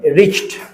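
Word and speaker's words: reached: married before I रिच्ड सी एच में जब ईडी लगता है तो उच्चारण निकलता है ट तो आप पढ़ेंगे रिचड रिचड मत बोलिएगा गलत हो जाएगा ये आधा च और फिर ड रिच्ड रोगी के आने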